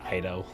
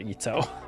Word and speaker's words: Ayato: leave it to me i was definitely pronouncing it ido not ito learn something new kamisato ayato